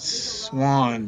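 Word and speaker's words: Xuân: guide standing there explaining things his name is pronounced Swan but it's xua n and uh he FW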